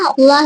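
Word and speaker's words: الله: வெண்மையா உச்சிருக்கோம் சரிங்களா புரிஞ்சதுங்களா இப்போ அல்லாஹ்ன்ற வார்த்தைக்கு முன்னால தபரோ இல்ல அல்லாஹ்ன்ற வார்த்தைக்கு முன்னால பேச இருந்துச்சுன்னா என்ன செய்யணும் அந்த அல்லாஹ்ங்கிற வார்த்தையை வாய்நிறைய வல்லினமா ஓதணும் சரிங்களா?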